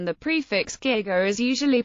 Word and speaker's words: giga: This suggests a hard German G was originally intended as the pronunciation.